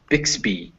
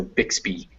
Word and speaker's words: Bixby: Yeah, when you find Y's at the end of words, they tend to be that E sound. I know BY by itself is by, but attached to a word, it will always be B. So Bixby. Okay, Bixby.